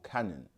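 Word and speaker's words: Canaan: also medically referred to as Hansen's Disease which phonetically ties into Ham's son's disease because obviously Ham's son was Canan or Canon as some people say so woat is for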